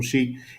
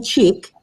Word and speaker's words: Chic: Tell us where they can find that Principal Chic, and definitely they need to follow your Instagram to see the outfits. Yeah, my Instagram is Principal Chic, and it looks like Principal Chick, but Chic is spelled CHIC.